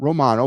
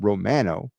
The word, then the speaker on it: Romano: place Romano that's that's by the way that's how you say it not Romano but Romano I mean uh he